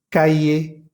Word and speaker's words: cahier: No vamos a pronunciar esa R final. Por ejemplo, en la siguiente lista. Danger, boucher, boulanger, cahier, papier, quartier, premier, dernier, léger, entier, pommier, bananier.